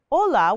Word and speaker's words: hola: But even though she said, hola, with a silent H, they waved her off.